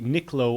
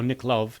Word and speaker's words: Nipkow: So what you are seeing here is a Nipkow, or Nipkow, depending on how you pronounce it, display.